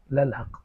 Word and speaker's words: للحق: اس لیے کہ یہ انا کا اسم ہے۔ للحق اصل میں تھا الحق، اور لام پیچھے کو لگا للحق، تو اس میں جو الحق کی حمزۃ الوصل تھی وہ گری گئی، تلفظ سے بھی گر گئی اور کتابت میں سے بھی گر گئی، تو یہ ہو گیا للحق۔ تو لام کیا ہے؟